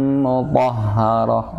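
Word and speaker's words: مطهرة: Itu dua ha ya. Ha yang pertama ha sama ha apa namanya? Ha marbutah. Mutahharah. Jadi sama-sama baca taknya marbutah, kalau disukun jadi ha yang besar ya.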